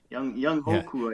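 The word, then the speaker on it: Younghoe Koo: Young Hoku.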